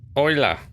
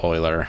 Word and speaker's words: Euler: It's spelled Euler. Euler.